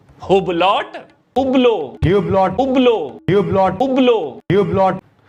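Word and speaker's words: Hublot: अबे इसमें H और T दोनों साइलेंट रहते हैं। हुबलॉट, उबलो, ह्यूब्लॉट, उबलो, ह्यूब्लॉट, उबलो, ह्यूब्लॉट।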